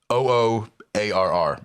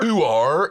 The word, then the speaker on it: oo arr: It's a OOARR. It's like OOARR. yeah. Ooh are. It's no words involved. Just I think R because it's the phonetic like R pronunciation.